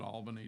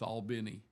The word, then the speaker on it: Albany: They don't call it Albany, Georgia. It's Albini.